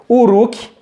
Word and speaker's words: Uruk: cidades professor adriano o somente um r tá se pronuncia assim o uruk ur uruk a pronúncia deve ser essa tá pessoal pronúncia o